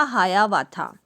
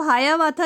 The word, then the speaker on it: Hiawatha: तो ऐसा ही एक आदिवासी बॉय था यानी लड़का था जिसका नाम था हायावाथा. तो हायावाथा जो है वो किसी का नाम है. ये स्पेलिंग है HIAWATHA, हायावाथा.